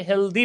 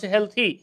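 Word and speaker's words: healthy: টি এইচ ওয়াই হেল আমরা অনেকে হেলদি বলি উচ্চারণ হেলথি হেলথি লেন্থি ওয়েলথি যদি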